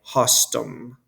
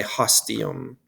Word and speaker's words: hostium: costume we wouldn't say hostum by adding just um to the stem we would say hostium and the reason is because they have the same number of syllables hostas okay so